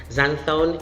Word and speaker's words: xanthone: zenfone another example of an english word with letter x in the spelling but should be pronounced z zanzone zanthon is that it's it's